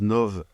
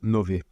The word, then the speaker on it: Nove: mais en tout cas sachez que l'officiel la prononciation c'est Nové voilà c'est donc unee